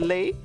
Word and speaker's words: lei: Santa wearing a Hawaiian shirt and like with the lei. Is it lei or is it li? How do you pronounce the thing? Lei. It is the lei.